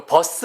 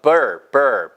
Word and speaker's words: birth: 이거 버스 아니고요. birth, birthday, birthday, birth.